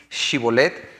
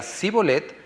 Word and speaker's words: Shibolet: le decían ahora pues di shibolet y sí Y él decía c bolet porque no podían pronunciar correctamente Entonces le echaban mano